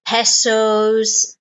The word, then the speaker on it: peso: it Euros is it pesos uh what is it okay and it's good to know um the pronunciation of your currency in English because sometimes we change slightly like special it's peso in English so it's a good